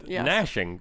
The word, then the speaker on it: gnashing: Gnashing.